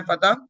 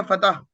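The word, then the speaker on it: فتح: ऑन द way, Allah reveal versus from सूरह फतह। फतह का मतलब क्या है? फत। हम इसको पढ़ते हैं विक्ट्री। फत।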